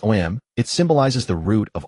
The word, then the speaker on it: Om: Pronounced OM, it symbolizes the root of all things.